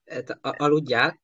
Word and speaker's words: aludjál: То есть это L на конце, она не произносится, да, чаще всего. Вот это L на конце, она не произносится, да? Это алудя, ты алудя, это можно,